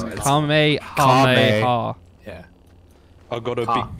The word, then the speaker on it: Kamehameha: Now I've got a cummy hummer car, so. You got a one. Fuck, is that not how you say it? No, it's Kamehameha.